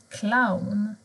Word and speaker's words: clown: Men bokstaven C kan också låta som K. Till exempel clown, cool.